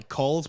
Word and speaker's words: chulls: The expedition scholars ride in wagons pulled by culls, which is the proper way to pronounce that word, and I will fight you otherwise. You mean chol?